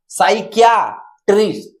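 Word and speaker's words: psychiatrist: यहाँ साइकाटिस्ट होता है तो पी क्या है, साइलेंट है, क्योंकि साइकाट्रिस्ट है। तो यहाँ अगर हम बात करेंगे तो साइकियाट्रिस्ट, साइकियाट्रिस्ट।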